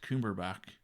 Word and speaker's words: Cumberbatch: And which is funny with that is I actually found out that Benedict Cumberbatch, or Botch, or Back.